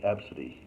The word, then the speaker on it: ABCDE: Her name literally is ABCDE, and she pronounces it like Absidy.